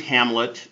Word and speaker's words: Hamlet: didn't say my name my name is Hamlet just like the play I lead all North